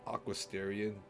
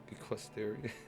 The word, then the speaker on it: equestrian: Oh, I'm so bad at fucking pronouncing words, dude. What's wrong with me? Equestrian? Not Aquasterian. Equestrian. Equestrian.